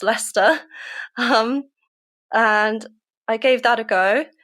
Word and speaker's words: Leicester: There was a school in Leicester, which is not Lysester, it is pronounced Lester.